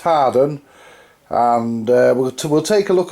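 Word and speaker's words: Hawarden: the air where we're on the air at hall warden I think is hot as prettiest prettiest biz it's pronounced hardened and we'll take a look at some wear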